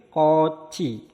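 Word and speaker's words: 꽃이: Berikutnya ada kot-i. Nah, kot-i. Maka cara pembacanya disambung jadi koci. Koci.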